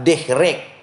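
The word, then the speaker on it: דֶּרֶךְ: Karena penggunaan kata jalan dalam bahasa Ibrani menggunakan kata dehrek. D-E-R-E-K. Dehrek bacanya.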